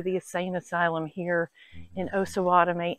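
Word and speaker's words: Osawatomie: asylum here in osawatomy and it's osawatomy not osawatomy I've been saying it wrong and I got corrected by two viewers I'm sorry I really do try to pronounce things properly so it's osawatomy so what is something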